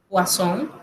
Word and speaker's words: poisson: Si usted ve una sola S en una palabra, se pronuncia como Z, pero si son dos, se pronuncia como S. Ejemplo, poisson, que es veneno, poisson, que es pescado.